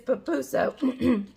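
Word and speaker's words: pupusa: around oh well i told him and i pronounced it wrong it is papuso on our last video we went to peppy's party and we had for the first time it's an el salvadorian dish called papoosa and on my last video i pronounced it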